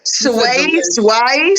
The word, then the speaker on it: swai: delicious it was uh swai sway sway sway I know how to spell it I mean I know how to say it was s-w-a-i how about pancakes and